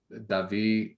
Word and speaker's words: Davi: is david schoen uh he pronounces his name similar to me but without the d at the end uh although apparently in brazil when you put a d at the end it's not pronounced either so uh it's davi with or without a d often you know like